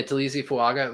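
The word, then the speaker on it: Taliese Fuaga: Some of his best pass rushes were against Trevor Penning and I'm going to get his name, Tulisi Fuaga. Did I pronounce that right? Tulisi, yeah. Yeah, Tulisi Fuaga, which are the Saints offensive tackles, right?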